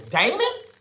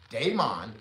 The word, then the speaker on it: Demon: "Oh, your name is Damon." I'm like, "No, my name is Demon like Monday. Just like Monday. Put the d a y in front of the m o n. Now pronounce it day.